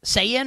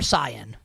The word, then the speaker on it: Sayin: How do you pronounce the Ohio State quarterback? Sayin or Cyan? Yeah, Sayin. Sayin.